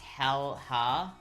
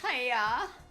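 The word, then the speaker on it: Häyhä: Haya is pronounced hal-ha, hala. It sounds like it's pronounced Haya.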